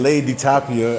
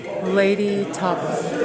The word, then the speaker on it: Lei'D Tapa: former TNA Knockout uh I keep saying lady dapia I keep mispronouncing that name so that sounds like tilapia I don't like tilapia yeah made up fish so tell the people uh how do you pronounce your name lady tapa lady TOA okay and um somebody's